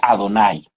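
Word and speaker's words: אֲדֹנָי: la traducción de la palabra hebrea adonay que viene compuesta de la letra d nun y y y se pronuncia adonay así que Tomás le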